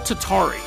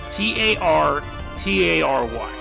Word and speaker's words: Tartary: I'm probably going to mispronounce it, but it's called Tatary. Tartary.